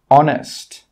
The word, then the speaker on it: honest: Another rule with H is that H is sometimes silent when it comes at the start of a word. Some common examples are hour, honest, honor. In all of these words, we are not pronouncing the H sound. We are not pronouncing the letter H.